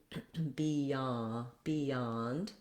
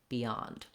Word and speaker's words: beyond: it at the beginning, in the word beyond, because we have that y glide, we don't really do I in American English. So that's one place where we will say an E, beyond, excuse me. But it's still stressed on the yond, and you still want to be short there, beyond.